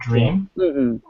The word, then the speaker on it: dream: Drum or dream dream. Uh the mistake is to put a vowel between like dream. Don't say just say dream.